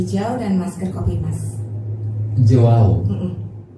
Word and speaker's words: Joao: Joao. Hurufnya J-O-A-O ya? Iya. Bacanya juga seperti itu ya?